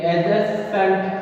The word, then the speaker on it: adjacent: फिर एडजेसेंट, एडजेसेंट, डी इसमें silent है, ADJACENT, एडजेसेंट का मतलब होता है पास का, निकट का।